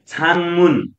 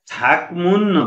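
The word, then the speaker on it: 작문: त्यसै गरी यहाँ त छाङमुन, छाङमुन, अब यसलाई छाकमुन भनेर, अब यतिको स्पेस हुन्थ्यो भने त छाकमुन हुन्थ्यो, तर यहाँनिर स्पेस नभइकन सँगै जोडिएको छ, जोडिनुको अर्थ हो गरम ठोकिनु, गरम ठोकिँदा गको उच्चारण न गर्नुपर्ने भयो, त्यसैले छाङमुन, छाङमुन भनेको लेखक।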